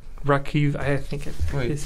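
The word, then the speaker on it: Rakhiv: Is it like Rakiv? I think it Wait. Is this it? Yeah, probably that. How do you say that? Rakiv.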